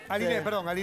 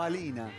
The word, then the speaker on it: Alina: Aline. Aline Moyne. Me ponen Alina. Es Alina Moyne. ¿Qué quedamos, Aline o Alina? No, Alina. Alina. Entonces callate la boca. Alina, porque se escribe.